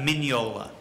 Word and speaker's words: Mignola: mispronounce his own name it's a minola that was an easy